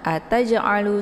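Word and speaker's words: أتجعل: Jadi cara bacanya itu dengan pantulan yang ringan ya, tidak boleh kuat.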